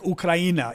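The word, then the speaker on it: Україна: The name Ukraine is actually pronounced like Ukraina. It's not Ukraine. That's English.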